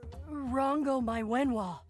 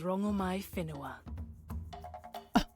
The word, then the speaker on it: Rangomai Finoa: Hello, gorgeous goddess Rango Mywen. What do I call you? My name alone will suffice. My name is Rangomai Finoa. Totally different pronunciation.